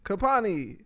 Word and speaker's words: Kapwani: p w n i the W silent that's information yeah I think they